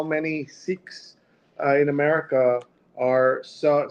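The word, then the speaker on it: Sikh: uh I have preferred to say seek when talking about sikism to Americans because that's easier to understand but uh sik people who are from the religion many of them who do say sik to Americans will say the right way to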